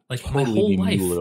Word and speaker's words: Mueller: way Josh I cannot I can barely bring myself to say molar because it's it's spelled mu II shouldn't that be Muller like a cat it's me